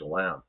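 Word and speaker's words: Cholame: And later he says outside Paso, yeah, it's in a place called Shalam. And that's how it's pronounced.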